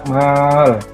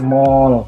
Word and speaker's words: mal: Yang pertama adalah kita bahas zakat mal. Ini bacanya mal, bukan mall ya. Nah, Anda ya, jangan dibacanya mall tapi mal ya.